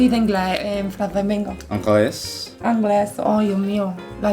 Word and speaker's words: anglais: Italia, anglos, ucran.